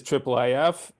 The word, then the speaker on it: IIIF: the triplef um pronunciation it is triple if it is not I if as I've heard many times it's not I I nor II um so anybody in